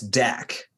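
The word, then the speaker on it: Dat: name is that it's Dak it's either Dak or dad I always mix it up but it's like spelled it's spelled d-a-t but it's pronounced d-a-k and and they're like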